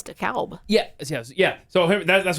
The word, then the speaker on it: DeKalb: you're like bro uh here we we call it uh dekalb county georgia not the call the you know not the co whatever but up in illinois it's dekalb yeah yeah yeah so